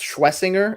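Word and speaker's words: Schwesinger: Yeah, it's Schwessinger is what I've been saying.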